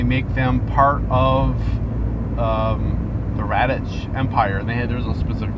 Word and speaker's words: Radch: which is called the Radich. That's how I pronounce it. Radch, I think is how she spelled it.